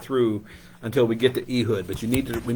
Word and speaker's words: Ehud: while to get through until we get to eood but you need to we need to know the back the name of the story eood The left-handed man how do you spell that